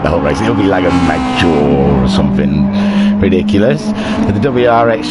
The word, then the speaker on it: Lago Maggiore: Yeah, I went on Googled, I Googled it, I found out how to say it, and it's Lago Maggiore.